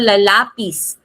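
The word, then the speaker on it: lápiz: Halimbawa para ehemplo lapis e lapis. So ang stress nito ay nasa Ais. Lapis nasa letter A.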